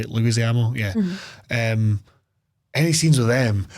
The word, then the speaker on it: Leguizamo: Like, see, like that, any scene with the acting troupe with John Leguizamo, that's how you say it, Leguizamo, yeah.